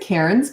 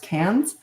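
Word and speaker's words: Cairns: Um but yeah, never made it up to Cans. Some people pronounce it Karens, but it's actually pronounced KS um in Northern Australia.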